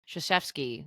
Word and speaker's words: Krzyzewski: Now they could call him Coach K because his last name is actually pronounced Krzyzewski, which it starts with a K.